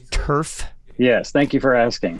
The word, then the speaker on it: Tuerff: Kevin, just to make sure, it's Tuerff. Yes, thank you for asking. Thank you. It's Tuerff, like AstroTurf.